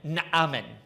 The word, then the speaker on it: Naaman: you know, take up, but Naaman Naaman is how you would say his name.